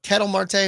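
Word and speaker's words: Ketel Marte: the next best one catel Marte or Kettle Marte however you want to Pro pronounce it I've always pronounced it katel Marte of the Diamondbacks he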